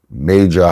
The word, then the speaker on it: Majah: Because the J is pronounced as an H. Silent. No, it's pronounced as an H in Spanish.